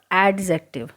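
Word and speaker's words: adjective: ये ध्यान रखना, all this are एडजेक्टिव एंड इट is called एडजेक्टिव, इट्स नॉट एडजेक्टिव। जब भी डी और जे एक साथ आता है तो उसमें डी साइलेंट रहता है, ध्यान रखोगे।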